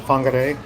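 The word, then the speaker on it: Whangārei: Like Fakataname and Fangare, the wh is the F sound instead of wh that's how they say it.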